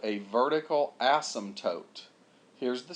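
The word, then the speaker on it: asymptote: there but anyhow whatever the p is silent so look here if you say this word it's in your next class it's called Asm toote not ASM all right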